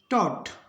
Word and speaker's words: taught: TAUGHT, तो इसमें जी एच बीच में, तो जी एच साइलेंट रहेगा लेकिन टी का उच्चारण होगा, इसको करेंगे पढ़ेंगे अपने टॉट। जी एच इसमें साइलेंट है, इसको पढ़ेंगे टॉट।